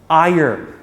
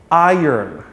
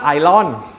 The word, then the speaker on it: iron: for the marvel fans iron iron iron please iron my shirt iron is a metal it's not ilon island man it's pronounced like i yearn iron i'm i'm i'm